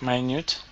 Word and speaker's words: minute: why not mean it but my newt so it's a homonym so it's spelt the same but it means different things very small okay yeah and differentiations